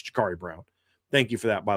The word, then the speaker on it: Jakari Brown: We talked about Jakuri Brown or excuse me, Jakari Brown, even though it's spelled like Jakuri. It's Jakari Brown.